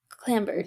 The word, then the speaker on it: clambered: Okay, clambered. Why does that seem wrong? Yeah, it does. I guess because there are other words where the B is silent in that Yeah.